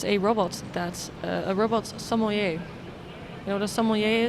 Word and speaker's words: sommelier: apparently there's a robot sommelier. I'm probably not pronouncing that word correctly. I have a French person in our team, Corentin. Am I pronouncing that word correctly? Sommelier. Oh, I am.